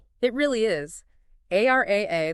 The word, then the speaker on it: AIRIA: AR AA, that's pronounced A I R I A, is the control plane for this new reality.